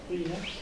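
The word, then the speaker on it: Ruyer: C'est la distinction qu'opère Raymond, on dit Rouillère ou Rouillère? Rouillère. Oui, ça se prononce il y a c'est une habitude de parole, mais je l'ai toujours entendu prononcer comme ça.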